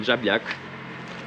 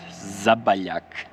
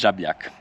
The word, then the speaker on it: Žabljak: We arrived in Žabljak, or how I heard yesterday on the mountain, how the English pronounce it, Zabaljak. So guys, it's Žabljak. So we just parked our car here.